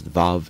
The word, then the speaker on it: vav: they're confused sometimes now the actual Hebrew pronunciations are what I use VAV and yod uh European influences made some academics later call them the wow and the jot but uh those are more europeanized and have been abandoned by modern Israel as they tried to go back to the original pronunciations of these letters but uh other spelling